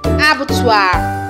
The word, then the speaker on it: abattoir: people now face as me knots maybe you pronounce this as abattoir not about you you pronounce this as fatal